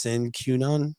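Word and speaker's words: sine qua non: the pandemic Aaron oh I'm pretty sure it's pronounced sin cunan is that right uh uh but it's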